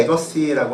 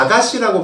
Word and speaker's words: 에거시: 사람이지만 아실 텐데 안드레 에거시라고 하는 사람이 있습니다. 옛날에 굉장히 유명한 사람이었고요. 처음에 이제 우리나라 사람들이 외국어니까 아가씨라고 발음을 많이 했습니다. 처음에 들었을 땐 여자 이름인지 여자인 줄 알았는데 외국 사람입니다. 안드레 에거시.